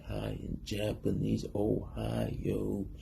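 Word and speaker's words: おはよう: say hi in Japanese Ohio like the state Ohio this means good morning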